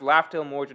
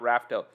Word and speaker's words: Laugh Tale: thanks for a lot it's pronounced laughter morgan not rafto i know but raftel